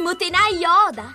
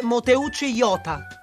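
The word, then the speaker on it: 弄内洋太: E tu ti chiameresti Motenai Yoda? Si legge Moteucci Yota.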